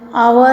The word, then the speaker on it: hour: Over here, hour is H silent, HOUR, it is said, so we've written ANN.